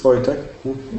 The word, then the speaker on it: Wojtek: Can you please correct me in the pronunciation? I keep saying Wojtek. Is it Wojtek? Yeah, it's okay. It's Wojtek.